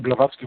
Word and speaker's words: Blavatsky: Through the Theosophical movement and New Age movement, and then Madame Blavatsky was the mother of the Theosophical movement, as I pronounced that right?